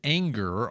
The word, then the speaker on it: Ehinger: And we're hearing the pronunciation Anger.